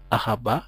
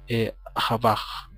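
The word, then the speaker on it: אהבה: Por ejemplo, se pronuncia Ahabá y no Ahabaj.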